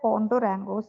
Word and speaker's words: Cundurango: hemorrhoids second medicine is condorango though we pronounce it as condorango Co Contour angle if